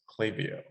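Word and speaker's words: Klaviyo: with a link and he says it's officially pronounced clavio so okay sounds like that has been settled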